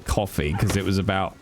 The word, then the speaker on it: Ko-fi: I've had more people pronounce it like lo-fi. See, I always thought it was Kofi or coffee because it was about